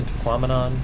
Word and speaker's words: Tahquamenon: After the museum, I rode the Tahquamenon, which I've been told rhymes with phenomenon, Scenic Byway.